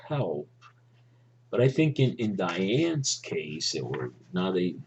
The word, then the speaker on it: Diane: but I think in Diane's case, or now some people say that the pronunciation should be Dion. I think her teacher Estelle Model, um, pronounced it Diane.